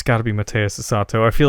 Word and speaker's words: Mateus Asato: ago but that's not it's got to be Mateus Asato I feel like I'm mispronouncing his name and I I just I don't want to butcher it I'm looking it up it is Mateus Asato super tasty guitar playing mmm he's one of